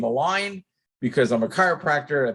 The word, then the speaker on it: Align: Now, I happen to like the name Align because I'm a chiropractor. I think it's perfect and it rhymes with Klein.